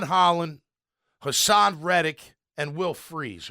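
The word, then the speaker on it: Fries: Hassan reic and will freeze or Fri however you pronounce his name freeze I think it is the guard from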